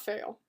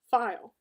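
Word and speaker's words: faille: It's not fail. It's pronounced file.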